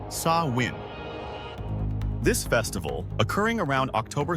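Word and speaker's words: Samhain: Long before Christianity adopted many practices, the ancient Celtic peoples of Britain and Ireland celebrated a festival called Sam Hai, pronounced saw win.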